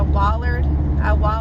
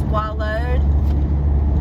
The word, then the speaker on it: wallowed: Like I know, like I'll say I wallered all night when it's wallowed.